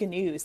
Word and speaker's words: gnus: It's I think it's gnus. They say gnus for this. Gnus, goliaths, gazebrahs, etc. So. I think they do actually pronounce the G there for to make it make sense.